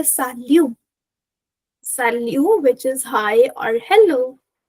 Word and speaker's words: salut: You can say sal which is hi or hello. You can say sal t you will not pronounce.